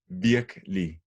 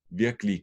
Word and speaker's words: virkelig: Remember two syllables when spoken. Virkelig. Virkelig godt.